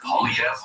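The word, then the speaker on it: Poilievre: Pierre Polyev. That's from a weird R, silent R. Yeah, it's strange. This is here written down. It's very different. Polyev, yeah.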